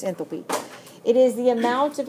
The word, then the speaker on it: enthalpy: it's a real word sometimes you'll hear it pronounced enthalpy but I think that sounds weird so it's enthalpy it is the amount of energy absorbed or